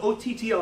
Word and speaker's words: Otto: This is Otto. Who? Yeah. Otto. O-T-T-O. Don't spell it backwards.